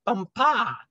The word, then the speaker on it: Bumpa: She became his chief wife and is now known out there as the Crown Princess Bumpa. You accent the last syllable.